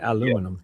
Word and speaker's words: aluminum: We You say aluminum. We say aluminium.